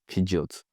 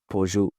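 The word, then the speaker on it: Peugeot: Some say I don't know pijot.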